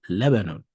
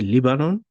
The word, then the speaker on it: Lebanon: or lion or luon you can say it but that's not how they say it it's Lebanon so just say it Lebanon and nothing else if you say leanon it's wrong who is that no